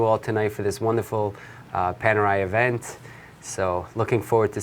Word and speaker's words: Panerai: panel a okay well this is an Italian brand so Panerai paneer on it okay okay and to